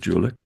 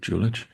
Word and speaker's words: Julich: Some people pronounce it Julik. Uh I pronounce it Julich.